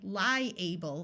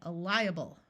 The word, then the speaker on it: liable: While this word by itself is able, when it's used as a suffix, the A schwas, or takes on a muffled sound that sounds more like a short U or a short I. So we don't say liable, we say liable, viable.